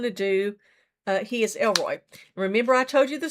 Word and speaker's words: El Roi: And then remember the word is El Roi, E L R O I and it is pronounced El Roi, it sounds that way. But it's a Hebrew word that means the the who sees.